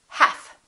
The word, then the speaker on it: half: talk could would should silent l hath we don't say health we say half silent t the silent